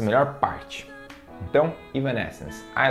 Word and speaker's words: Evanescence: Muita gente aqui no Brasil chama de Evanescence, algo do tipo, né? Mas a pronúncia em inglês é Evanescence.